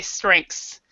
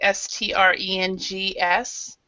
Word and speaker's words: strengths: I say strengths. So it's more like strengs. That's how I pronounce it.